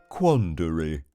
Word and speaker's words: quandary: My big word is quandary, pronounced quandary.